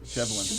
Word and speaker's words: Shevlin: Shevlin. That's how you pronounce that.